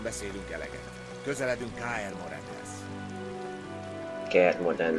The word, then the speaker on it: Kaer Morhen: Kaer Morhen. Rosszul fordították a magyarba, ez Kaer Morhennek ejtik inkább.